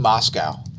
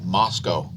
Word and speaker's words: Moscow: by the way speaking of pronunciations stop saying moscow it's pronounced moscow not moscow moscow not moscow moscow is not a thing